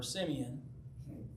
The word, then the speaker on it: Simeon: I think, Simeon, yeah, that's what I said, Simeon, yeah. Here in America, we pronounce it Simon.